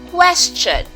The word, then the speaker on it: question: here we have question question has the same CH sound as the word preached okay so this is it the tea sound they are together okay don't look at the T being there the T and the CH that is one sound they are one sound so CH so looking